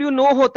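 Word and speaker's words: Knorr: करती हो कनो नहीं कनोर के चिकन क्यूब ना खाए के एन ओ डब् नो होता है कनोर नहीं होता ये वगिना की मेरे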